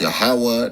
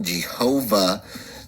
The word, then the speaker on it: Yahawah: it's it's uh W haah is the rule yahawah it's pronounced yahawah not Jehovah this German or Indo-European and these J G's